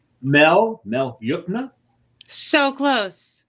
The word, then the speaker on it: Yukna: Mel Yukna. So close. We've had it said many different ways. It's technically Yukna.